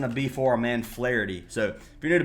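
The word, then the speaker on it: Flaherty: be for our man Flity. So if you're new to baseball, his name looks like Flirtie. So if you hear me say Flity, it looks like Flirty.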